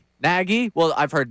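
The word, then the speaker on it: Nagy: Chicago story that says it's like Peggy but but with an N. I can't go naggy. Naggie. Well, I've heard naggy. Naggie.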